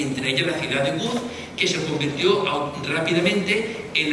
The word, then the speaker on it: Łódź: trasladar a Polonia, es la ciudad de Łódź, que es como se pronuncia la palabra que están ustedes viendo escrita en esta pantalla.